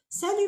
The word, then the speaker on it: salut: On ne prononce pas le T. Alors, ce mot-là est utilisé souvent avec les amis, la famille. Salut maman, salut papa, salut mon frère, salut mon ami.